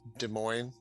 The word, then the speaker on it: Des Moines: And even though like so it's Des Moines, I Oh, think is the way. I Uh, completely yeah, butchered no, it.